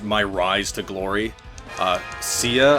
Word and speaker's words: Cia: rise to Glory uh CIA I believe is how you pronounce her name called her Kia for a bit uh but nobody